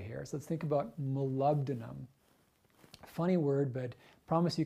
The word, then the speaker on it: molybdenum: So let's think about molybdenum. Funny word, but promise you can say it. So molybdenum. It's spelled like Molly, but it's like molybdenum.